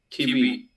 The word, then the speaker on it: TV: We pronounce like T, los dientes sobre el labio. Okay? Like V, V, V. V. Es como una F.